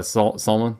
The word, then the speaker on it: Salman: So the Crown Prince right now, Mohammed bin Salman, I thought it was Salam, but yeah, Salman.